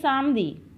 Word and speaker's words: samedi: Saturday, pronunciation of Saturday is Samdi. Samdi. Samdi. Samdi. How we will spell Samdi? Samedi. Samdi.